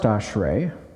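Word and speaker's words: אשרי: is translated as blessed but then you have ashre this is pronounced ashre it means happiness or blessedness now the difference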